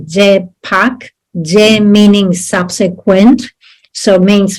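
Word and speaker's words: རྗེས་དཔག: Okay, so remember that the etymology in Tibetan of the word that we translate as inference, it's like, remember that it is two syllables, je pak, je meaning subsequent, so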